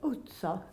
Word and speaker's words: utca: How do you pronounce that? Utca.